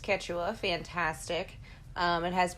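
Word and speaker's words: Quechua: It's it's pronounced Ketwa.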